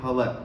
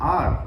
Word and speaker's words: hour: बहुत सारे लोग इसको HOUR होता है, इसको बोलते हैं हवर, कुछ बोलते हैं अवर, है ना। तो ये रॉन्ग प्रोनाउंसिएशन में काउंट होता है। आपको बोलना है आर, 1 आवर, H साइलेंट है तो आपको क्या प्रोनाउंस